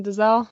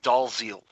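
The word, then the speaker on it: Dalziel: Oliver plus and Ryan does el I know I said it wrong deer right DL right Ryan dolls eel yeah really I mean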